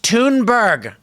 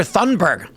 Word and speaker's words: Thunberg: First of all, it's pronounced Tunberg, guys. You heard her. Kill some time, man. Kill some time. Everyone always calls her Thunberg.